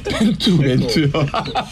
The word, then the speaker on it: 벤투: 그리고 예전에 이제 벤토 때도 마찬가지고. 벤토요? 벤투요. 벤투. 그렇게 되면 또 지금 뭐라 그래요? 벤토. 아니. 벤투. 벤토가 벤투를 빨리 발음하면 벤토가 되는구나.